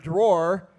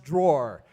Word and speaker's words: drawer: He has trouble pronouncing certain words, like the word drawer. He says draw, draw. But the word is actually pronounced drawer.